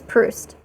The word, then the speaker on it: Proust: I'm like oh God it's not how you pronounce it at all it's like proust it's pruced I think right crust it's proust I'm sure of it anyway um